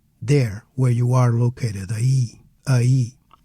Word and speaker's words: aí: Aie E without the accent would sound like I which is a single syllable and it means ouch I ouch.